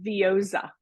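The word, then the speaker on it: Veozah: the name of it it rhymes with yoza because I was making funny fun of it so if you're looking for it's called vioa vioa was like sounds like yaowa to me sounds like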